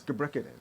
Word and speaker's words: Gebrekidan: And it's Gebrekidan. Gebrekidan. Gebrekidan. You got it. It's pretty straightforward. If you read it, just like that. Gebrekidan.